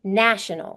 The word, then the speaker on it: nation: it sounds different nation national nation has a long a national has a